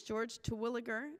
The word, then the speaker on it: Terwilliger: Our fourth witness is George Terwilliger. Is that correct pronunciation?